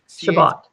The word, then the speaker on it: Chabot: times the wrong way it's shabat shabot as an uh cabit trail with an H got it I love